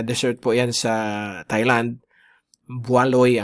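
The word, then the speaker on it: Bualoi: Bualoy ang pron ang ang nakalagay pero ang pronunciation is buuloy.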